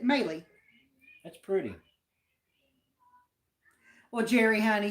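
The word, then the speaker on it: Mali: It's M-A-L-I, but you pronounce it Maylee.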